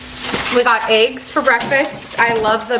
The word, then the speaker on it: oui: Joey's gonna find the correct pronunciation. Yeah, I don't know, it's French and I always say it wrong. We got eggs for breakfast.